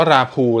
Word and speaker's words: Rapoo: ครับ รา ภู c260 อ่าน ว่า รา พูห์ แล้ว กัน นะ ครับ ผม จะ ออก เสียง ตาม ที่ เขา เขียน ไว้ พูห์ HD 1080p webcam